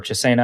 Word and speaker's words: Chisena: Yeah, so actually wide receiver, that's interesting, mostly because Dan Chisna's on the roster, or Chisena, I guess is how you pronounce it now.